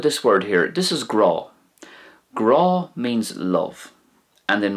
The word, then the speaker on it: grá: pronounced the same way, Grah. So it's like an awe sound, like in English if you're in awe of someone, it's kind of like that kind of a awe sound, Grah.